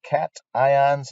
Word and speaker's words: cation: are made of ions positive ions are called cat ions negative ions are called anions try not to mispronounce those that make us all look bad